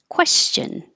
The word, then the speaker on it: question: anti and anti and question now back to two syllables here we did this I think yesterday quests your lips round question question and language round your